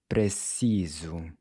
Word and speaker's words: preciso: Listen closely… “preciso”… “pre-ci-so”. “**preciso**”. Notice how the “s” is pronounced like a /z/… “preciso”.